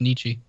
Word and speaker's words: Nietzsche: crazy I'm call call just told me it's pronounced Nietzsche call I'm calling you out here man the